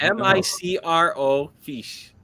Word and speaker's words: microfiche: MICRO fiche. I'm going to say P. I'm going to get laughed at. PISH. No. No. No. It sounds just like you say it.